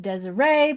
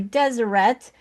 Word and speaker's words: Deseret: I've always pronounced it Deseret because I'm trained in French and the ET at the end is supposed to be pronounced A but it's actually Deseret.